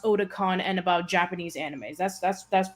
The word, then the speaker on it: Otacon: The fact that Otacon is pronounced Otakon and about Japanese animes.